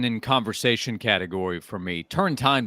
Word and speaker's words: Turrentine: conversation category for me turn time by the way is Alan I understand it so if I'm uh mispronouncing let me know along the way but